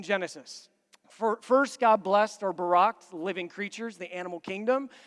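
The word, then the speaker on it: בָּרַךְ: is used here is Barack pronounced like the President Barak God Barak creation the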